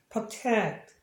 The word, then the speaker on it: protect: 동사니까 액센트 여기 있고 얘는 당연히 자음중이니까 단모음이니까 에로 발음할 테고 여기도 마찬가지 여기 현상이 있어서 프로라기 하기보다는 pro에 가까워요. protect 이런 식으로.